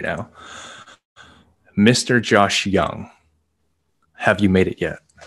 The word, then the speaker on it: Yang: I'm Josh Young, not Josh Yang.